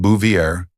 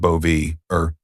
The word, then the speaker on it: Bouvier: It's pronounced Bouvier, not bo.